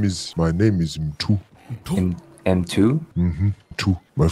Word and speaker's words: Mtu: My name is Mtu.